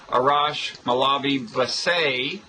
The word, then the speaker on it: Arash Molavi Vassei: I'm Robert Wright of Blogging Heads TV, and you're Arash Molavi Vassei. That is the way an American would mispronounce it, right? That's the correct American exactly.